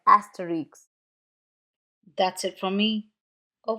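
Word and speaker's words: Astérix: Final consonants are pronounced in proper names, like asterisk.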